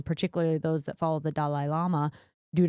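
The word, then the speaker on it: Dalai Lama: Lama do not believe Dal Lama I like that I say that I said dolly do Lama for for some reason I think that's how we say it in America I Hear I want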